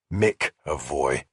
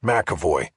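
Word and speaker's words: McEvoy: He had gotten the name right, but had pronounced it wrong. Mavoy. Yes, Makavoy, I said, correcting him.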